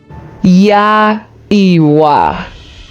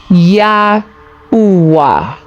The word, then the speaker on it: Yahweh: In Eastern and Western dialect, Yahweh is pronounced thus. Yah Iwa. Yah Uwa.